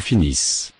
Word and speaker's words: finissent: Ils finissent. Elles finissent. Elles finissent. Finissent. Add the ending. I. S. S. E. N. T. But the final. E. N. T. Are not pronounced.